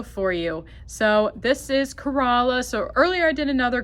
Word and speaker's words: Corolla: If you're wondering why do we call it Corala? It's spelled like Corolla like the car, but it's actually pronounced Corala.